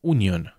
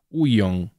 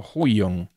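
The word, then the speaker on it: Huion: una tableta Union eh No no es Union es bueno es rechina a ver pero que la tengo acá es h u i o n Cómo pronunciamos eso hay tres vocales juntas uong o Hong bueno rechi bueno Esa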